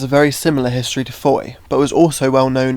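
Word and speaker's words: Fowey: We are currently at Foy, which is pronounced Foy, not Fawi like it's spelled.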